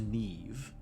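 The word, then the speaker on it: Niamh: The thousandth member pronounced Neve. Okay, I believe you because I know a few things about Irish names, but wow.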